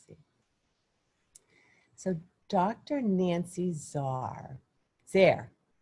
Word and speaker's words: Zare: so dr nancy zarr zare sarah rhymes with care oh so she's a